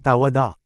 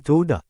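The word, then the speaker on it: todah: Wow, da at hey ang ginawa nila ay puro tunogan na salita na tawad. Muli, ang waw ay tunog o or o. Kaya ito dapat ay toda.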